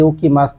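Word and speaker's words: 起きます: আমাদের সর্বপ্রথম যে ভোকাবুলারিটা আছে এটা হচ্ছে উকি মাছ।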